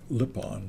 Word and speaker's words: Lipon: looked that pronunciation up it's lip lipon like you speak with your lips or they're like sipon